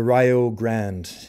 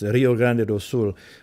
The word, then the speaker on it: Rio Grande: Do is an old sea shiny called the Rio Grande and uh it's mispronounced that way that it's Rio Grande which is a river in Brazil and it's